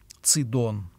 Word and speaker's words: Сидон: находятся развалины древнего sedona сидон так на священном писании произносится этот город согласно мо советской огласовки